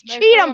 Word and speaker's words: Chatham: was saying it right even though it's Chatham County the way they say it it's Cheatham County that's probably why he